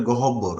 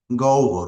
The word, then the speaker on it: গহ্বর: এই শব্দের উচ্চারণটা এখানে দেখা হচ্ছে যে অনেকেই এটার উচ্চারণ করে গহব্বর, আসলে শব্দটা হবে, উচ্চারণ হবে গহ্বর, মুখ গহ্বর মানে হচ্ছে